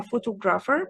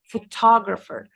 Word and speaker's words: photographer: of this word because there is a mispronunciation for it. في خطأ شائع في نطقها بنقولها photographer, but it's not pronounced like this لأن الsyllable stress أو الستريس فيها على المقطع اللي في النص ده فبقولها photographer.